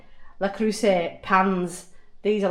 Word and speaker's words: Le Creuset: Le Creuset. That's how you say it. Le Creuset pans.